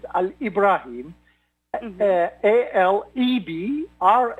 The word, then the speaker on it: Alebraheem: and my name and it is like what we are pronouncing it it is a Libra him and there a LED